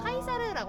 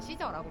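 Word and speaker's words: Caesar: 카이사르라고 하는게 원래 이름이고 이제 미국식 발음이 시저라고 보시면은 될 거 같은데요.이 카이사르가 죽고서 화장을 적서 진행을 하는데요.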